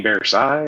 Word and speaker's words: Versailles: You mean Versailles? That's how it's supposed to be pronounced.